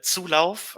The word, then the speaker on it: Zulauf: um my name is uh tsulov uh when pronounced france in german so yeah i'm based